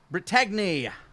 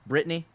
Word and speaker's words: Brittagny: Brittagny, R2-199. I guess I should stop pronouncing the G, because I'm guessing it's just supposed to be pronounced Brittany. Maybe.